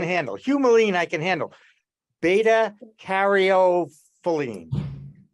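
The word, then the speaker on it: beta-caryophyllene: Beta caryophyllene. Beta caryophyllene.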